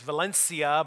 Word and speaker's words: Valencia: small borough of valencia i know that a good pronunciation of that place in spain is valencia but here in western pennsylvania we called it valencia i grew up in